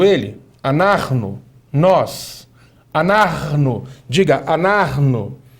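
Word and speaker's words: אנחנו: Anarno. Nós. Anarno. Diga anarno. Anarno. Repare bem. É importante eh destacar o seguinte, que no anarno nós temos uma pronúncia gultural bastante intensificada aqui, ó, por causa da consoante.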